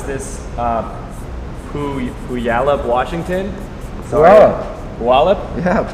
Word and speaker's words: Puyallup: All right, so this next one is from Megan in, I'm going to mispronounce this, Puyallup, Washington. Puyallup? Yeah, Puyallup, Washington.